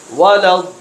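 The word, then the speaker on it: وَلَا الضَّالِّينَ: ওয়া লাব দল লিনা এখানে এই শব্দটা অনেকে বানান করতে পারে না দলাম বইলা ফেলা এখানে যে শব্দটা আছে এখানে দলাম জবর বলে কিন্তু আসলে বানান করতে সময় দলি লাম জবর দল দরের আওয়াজ টান দিতে হবে লাম ইয়া জের লি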